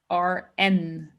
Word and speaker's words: Bern: In German, we pronounce it BERN.